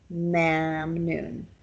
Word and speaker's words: mamnoon: Arabic origin word, and it is not pronounced as typical Kurdish Latin script spelling would show you. Instead, it's pronounced like with the ah sound, mamnoon.